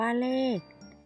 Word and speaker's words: เลข: สังเกต ดู นะ คะ คำ ว่า เลข เวลา เขียน เขียน ด้วย ข ไข่ สะกด แต่ คำ อ่าน นั้น เรา จะ อ่าน ออก เสียง เหมือน มี ก ไก่ สะกด ค่ะ สุนัข อ่าน